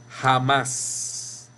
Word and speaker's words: jamás: No decimos jamás. Decimos jamás. Y en más, es la sílaba tónica.